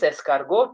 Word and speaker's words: escargot: This is escargot, T is silent.